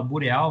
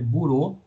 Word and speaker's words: Bureau: e a Bureau né muita gente fala boreal mas a pronúncia correta é burow tá é Bico R